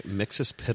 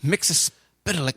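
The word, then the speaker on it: Mxyzptlk: it talks about how his name is is pronounced differently in all kinds of different examples pretty okay mixus pic I think it is mixus Pik mixus pic I think it's how you're supposed to say it it's ridiculous well someone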